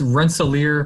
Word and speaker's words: Rensselaer: very happy to be with you did i pronounce that correctly or no that's rensselaer polytechnic institute okay oh yeah i don't want